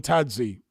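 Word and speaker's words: Thadzi: Africans that I've known, they don't pronounce it as a th way that we would in English. They just pronounce it as the T and a silent H.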